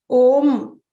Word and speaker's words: Om: This is how it would be normally written because of the pronunciation. Om, that's how we pronounce it.